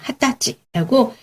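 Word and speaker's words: 二十歳: 20살도 굉장히 특이하게 읽어요. 그쵸? 20살은 조금 아마 성년이 되고 이러니까 좀 특별하게 읽는 것 같아요. 어떻게 읽죠? 20 歳、 그쵸? 핫다찌라고 사이가 붙지 않고요. 한자로 20살 사이까지 붙여서 세트로 핫다찌라고 읽습니다. 그래서 그것도 기억해 두시면 좋을 것 같고요.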